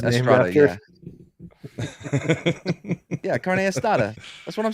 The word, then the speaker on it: carne asada: Carne asada? good too. Now you're just mispronouncing words on purpose. No, carne asada. That's exactly how you pronounce it.